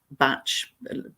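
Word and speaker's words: Bach: everything that they do yeah dr edward bark batch pronunciation however people prefer bark match um who rediscovered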